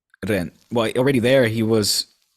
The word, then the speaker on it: Rennes: I think the S is silent. Rennes.